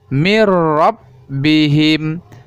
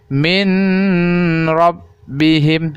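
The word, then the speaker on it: مِنْ رَبِّهِمْ: ro tanpa didengungkan yaitu mirrobbihim mirrobbihim Jangan sampai kita membacanya seperti ini minep bihim itu adalah salah eh salah Hai yang benarnya mirrobbihim mirrobbihim seolah bunyi Nun itu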